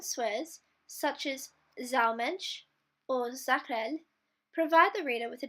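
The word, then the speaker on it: Saukerl: Zakrel, pronounced Zakrel, is for a male.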